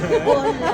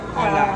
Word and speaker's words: Hola: Hola. Pinopronounce po siya with H. Hola. Hola.